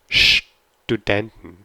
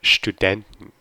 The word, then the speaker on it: Studenten: So this is an exception where you actually have Studenten, Studenten. So the stress is on den, Studenten. And it's really important to make the st. It's not student, it's Studenten.